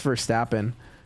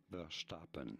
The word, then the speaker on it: Verstappen: Pronouncing his name, Max Verstappen. Verstappen. Max Verstappen. Did you get it? Let me know in. It's Verstappen, not Verstappen.